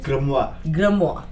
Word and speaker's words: grimoire: Alright, so I came across a book called the how do you pronounce it? Grimoire.